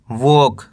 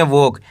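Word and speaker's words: walk: जी इसे पढ़ेंगे लॉन्ग वोक क्या पढ़ेंगे वोक इसके अंदर एल साइलेंट है एल का उच्चारण नहीं करना कैसे पढ़ेंगे वोक एस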